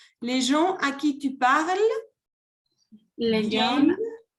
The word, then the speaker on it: viennent: Les gens à qui tu parles Les gens viennent. à qui tu parles, viennent. Viennent. No se pronuncia ni la E, ni la N, ni la T. Viennent.